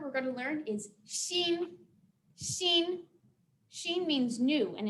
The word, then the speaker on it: 新: So the first word we're going to learn is xin. Xin. Xin means new. And if you look on the screen, that's the English pronunciation there.